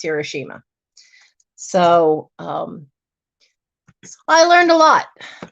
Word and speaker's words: Hiroshima: My Aunt Michiko was from Hiroshima, which is the actual right way to pronounce Hiroshima.